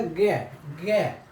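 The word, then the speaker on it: Г: चौथा हो जाएगा गे, चौथा होता है गे को हम ऐसे प्रोनाउंस करते हैं, देख रहे हैं इसको क्या, गे, इसको क्या कहेंगे, गे।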